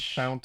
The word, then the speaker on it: Fount: And Fount of Moonlight. Font of Moonlight. Is it Fount or Font? I believe it's Font, right?